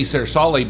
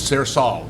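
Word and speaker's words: Sersale: the family or the the town my grandfather comes from is Sir Sally and we say sarasali but I I grew up thinking it was cersol s-e-r-s-a-l-l cersol because they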